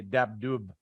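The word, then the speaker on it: Dabdoub: well if uh well the interesting thing is you pronounce the b at the end in the true Arabs do pronounce the Vietnam but I think my family was trying to act like they were from Louisiana so they wanted it to sound French so they didn't pronounce the b at the end we say dab do but a true uh a true Palestinian is gonna say dab dub um and I'll actually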